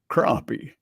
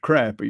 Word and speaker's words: crappie: Or if you're from the Midwest, crappie. Yeah. Of course, that ain't correct. It's crappie. You can go look and see how it's spelled.